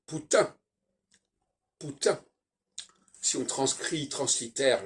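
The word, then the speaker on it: Путин: de Poutine par exemple ça s'écrit en fait compte en russe pou tin il y a pas de E et donc eux ils disent Poutine parce que eux ils prononcent la fin mais nous nous on n'est pas on fonctionne pas comme ça on devrait dire putin pourtant si on transcrit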